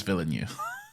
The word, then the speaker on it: Villeneuve: I know, I do, but like, hang on, how did you pronounce it? I did that purposefully. Okay. I know it's Villeneuve.